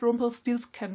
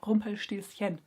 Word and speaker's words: Rumpelstilzchen: It's not Rumpelstilzchen, by the way, it's Rumpelstilzchen. People, please pronounce names the correct way.